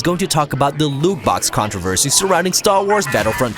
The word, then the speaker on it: loot box: It rhymes with moot ox or flute rocks. Yes, we're of course going to talk about the loot box controversy surrounding Star Wars Battlefront 2.